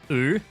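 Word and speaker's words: Wu: of the story lines which was woo or how the characters pronounce it oo uh quick sidebar the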